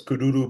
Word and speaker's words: Kuduro: in terms of music for this really famous Kuduro band. That's Yes. the proper way to pronounce it.